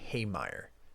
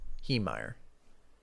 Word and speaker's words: Heemeyer: Oh, Marvin Haymeyer. Heemeyer. Okay, I was saying it wrong.